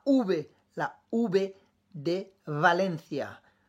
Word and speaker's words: Valencia: là où b&d valencia attention ce n'est pas aussi prononcée que le b de barcelone tu vas dire je sais pas si tu entends de la différence près de bien l'oreille barcelone valencia barcelone valencia valencia mais voy mais boys